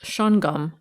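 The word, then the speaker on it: Shawangunk: Survey of New York schwang Gunk pronounced shongum according to the residents of the region schang Gunk mountain is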